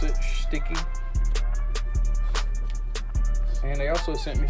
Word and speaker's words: Schticki: They did send me a card, and that's how you pronounce it, Sticky.